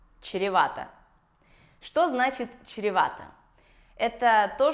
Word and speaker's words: чревато: Чревато. В этом слове ситуация похожа с маршруткой, потому что есть вот это сложное сочетание звуков ч и р. Чревато.